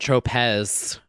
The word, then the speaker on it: Tropez: Wonder if that Saint Tropez, is that the right Saint word? Tropez. Oh. You put the emphasis on the wrong syllable.